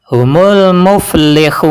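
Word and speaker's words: هُمُ الْمُفْلِحُونَ: Dan cara bacanya humul muflihun. Dibaca panjang 2 harokat, 4 harokat atau 6 harokat.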